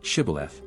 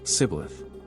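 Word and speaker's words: shibboleth: identified by their accent when they pronounced The Phoenician word shth as Sith at that time 42,000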